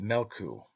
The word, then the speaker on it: Meolcu: Therefore the sun is called Meolcu, pronounced Melku, a greyhound.